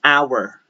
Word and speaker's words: hour: Now, when you have the words that begin with the letter H, but you don't pronounce the letter H and it is preceded right away by a vowel, then you must use the article N. So, an air, an hour, an honor, an honest opinion.